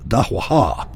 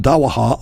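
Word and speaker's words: دعوة: Dawa, and it could be pronounced dahwaha, is an Arabic word which means to invite or summon someone.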